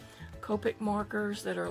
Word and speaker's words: Copic: has me purchasing those Copic is how you pronounce it Copic markers that are like